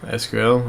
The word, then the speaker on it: SQL: excuse to start sorry teaching myself SQL or sequel however you want to pronounce it so there's that use